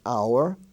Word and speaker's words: hour: consonant you could say is silent in such words as our h-o-u-r like what hour is it we spell a show